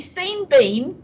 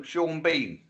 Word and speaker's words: Sean Bean: Bean his name yes Sean beam should either be seen Bean or Sean Bourne no Sean Bean don't look at how it's spelled I have seen how